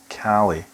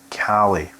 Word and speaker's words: Caley: seen james robinson's video james it's pronounced cali cali short for caledonia the name that was given to scotland by the romans cali just rolls off the tongue so he picked